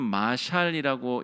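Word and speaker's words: מָשָׁל: 이거 아시는 분들이 거의 없을 겁니다 잠언 히브리어로는 마샬이라고 읽는데요 이것이 경구 아주 지혜로운 말 이런 뜻이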